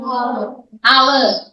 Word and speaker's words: hour: About half an hour. Half an hour. L is silent and the hour H is silent.